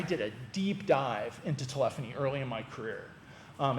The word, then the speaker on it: telephony: And yes, that's how you say it, telephony.